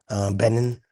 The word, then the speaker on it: Benin: got the third against Benine um Benin benign benin how do you say that country's name.